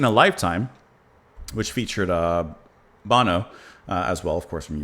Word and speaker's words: Bono: which is in a lifetime which featured uh Bono as well of course from YouTube. Is that how you say his name? Bono. Bon. No, it's Bono.